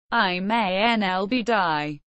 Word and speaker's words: Iman al-Obeidi: Iman al-Obeidi, also spelled Iman al-Obeidi, Arabic, pronounced Iman al-Obeidy, born circa 1982, is a former Libyan postgraduate law student who received worldwide media attention during the Libyan Civil War.